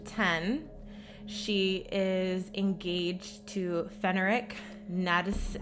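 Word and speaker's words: Ferenc Nádasdy: So at the age of 10, she is engaged to Fenric Nadis. How do you say? Oh, fuck. So she becomes engaged to Count Ferenc Nadasdy.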